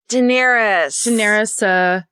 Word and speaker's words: Daenerys: It's Daenerys.